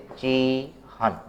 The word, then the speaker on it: चिह्न: अब उच्चारण करना है तो ह का उच्चारण पहले होगा और न का उच्चारण बाद में होगा। हम शब्द बना के देखते हैं, जैसे चीहन।